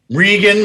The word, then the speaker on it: Reagan: This week, we're going to talk with Reagan. Well, it's a long E there.